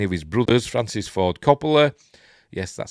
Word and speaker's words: Coppola: Michael without any of his brothers, Francis Ford Coppola, yes, that's how I pronounce it, should have admitted that the film